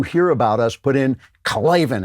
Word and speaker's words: Klavan: Put in Klavan, and you got to say it like that. Klavan is Klavan.